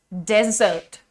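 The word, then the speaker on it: dessert: हैं डेजर्ट correct लेकिन ये जो मीठे वाली चीजें होती है ना इन्हे क्या कहते हैं भाई इन्हें कहते हैं डिजर्ट डिजर्ट डिज डे और डी में साउंड का फर्क आपको दिख रहा है ना मित्रों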